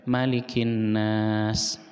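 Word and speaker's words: مَلِكِ النَّاسِ: manusia di indies ini airnya enggak dibaca mad tapi dibacanya pendek malikinnas Raja manusia yaitu Allah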